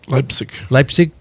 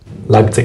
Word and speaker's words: Leipzig: And I'm going to, I always pronounce this wrong, Dickson, where am I going? Leipzig? Leipzig. Mm-hmm. Leipzig.